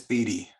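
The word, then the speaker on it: Beaty: at ubc at the is it baby or bd museum it's bd bd museum we always say it wrong um at the beating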